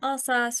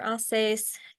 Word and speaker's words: Alsace: this border region so you might hear the region pronounced differently either allas or alace maybe depending on where you are in the world and also due to